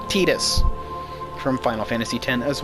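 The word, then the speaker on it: Tidus: I like to say Titus, but the official pronunciation of his name is Tetus from Final Fantasy 10 as well.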